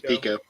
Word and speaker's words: Pico: It's Pico. Okay, I thought so, but I'm on a roll of mispronunciation tonight, so.